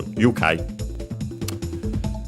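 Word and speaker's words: 愉快: Despite being a Chinese compound, this one is accent on the first syllable. So be careful. Ukai.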